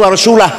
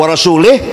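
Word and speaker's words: ورسوله: Bacanya wa rasulah. Kalau wa rasulih, Allah tidak melindungi orang musyrik dan tidak melindungi Rasulullah.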